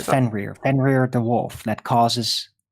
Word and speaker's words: Fenrir: you say his name or her name yeah fenrir it's german fenney what i was talking about uh ragnarok it's the wolf of ragnarok it's called fenrir fenrir the wolf that causes ragnarok cool well